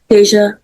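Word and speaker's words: Dasia: Well, I mean, how do you pronounce your name? Deja. All right. I'm going to go with Deja, but I'm telling you all right now, I'm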